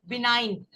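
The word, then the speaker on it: benign: ठीक है जैसे नाइन होता है ना नाइन बिनाइन ओके ठीक है बिनाइन जी इसम साइलेंट हैय जो आईजी एच वर्ड्स होते है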